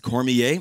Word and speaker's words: Cormier: we are the cormiers uh and that is pronounced cormier c-o-r-m-i-e-r uh hailing from the south uh cajun